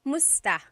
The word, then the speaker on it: musta: But the pronunciation usually is kumusta ka? Kumusta ka? And sometimes it's shortened to just musta, musta.